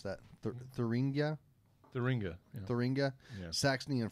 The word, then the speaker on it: Thuringia: The history is that it's a regional specialty from, I'm going to need you to pronounce that, Thuringia? Thuringia.